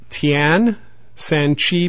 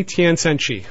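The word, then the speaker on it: Tien San Qi: So number 5 is Tian San Chi powder. That's spelled T-I-E-N, separate word S-A-N. Third word is Q-I.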